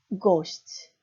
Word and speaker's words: gość: 우리나라 한글에 그냥 고시치, 코시치로 발음하시면 그러니까 우리나라 한글 고시치, 코시치 발음하시면 폴란드 사람들은 두 번째 단어인 코시치로 다 알아듣습니다. 즉 무슨 말이냐면 앞단어 고시치, 나는 고시치라고 발음했지만 그 기억을 정확하게 떨린 유성음으로 발음하셔야 됩니다.